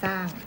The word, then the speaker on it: สร้าง: เนี่ย แต่ ออก เสียง เป็น สอเสือ ออก เสียง สร้าง We Are น้ำ เต้า ส้อ เสือ รอ เรือ ศ.